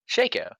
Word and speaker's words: Shaco: after my pronunciations, man? Okay, is it Nasus or Nasus? Nasus. Oh no, wait, Shaco or Shaco? Shaco.